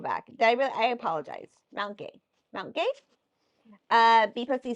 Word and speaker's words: Mount Gay: Mount Gay.